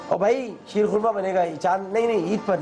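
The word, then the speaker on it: شیر خرمہ: Ksheer khurma, ji. Ksheer khurma, khurma not korma.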